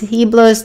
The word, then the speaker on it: Heblos: His name is Heblos. The H is silent.